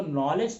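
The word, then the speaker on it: knowledge: नॉलेज मत पढ़, इसको नॉलेज पढ़, क्योंकि इसमें दो दो अक्षर साइलेंट है, पहला के है, दूसरा जी है।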